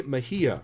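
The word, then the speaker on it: Mejía: Mejia, right?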